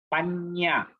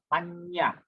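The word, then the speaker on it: paññā: So Anyang, Panya. Panya. It's nasal, you know, that's why we pause Panya.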